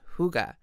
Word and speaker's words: hygge: heart hygge that's right hy Gigi E is pronounced hygge so let's take a closer look at this